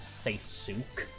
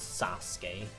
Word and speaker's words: Sasuke: thought he was called say Suk because I thought he also said that when he'd attack like I didn't realize until years later that the Japanese pronunciation is Sasuke oh and if you